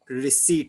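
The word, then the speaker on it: receipt: यस सर, रिसिप्ट and payment. RECEI, रिसीट side. Okay, रिसिप्ट नहीं। English medium के बच्चों proper pronunciation सीखो।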